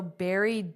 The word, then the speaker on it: buried: They're also buried deep within the food we eat. So here, notice the pronunciation buried. Just like a strawberry, raspberry, buried, buried, eed, eed.